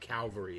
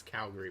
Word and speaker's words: Calgary: so it's it's not it's not calvary it's calgary well again i'm not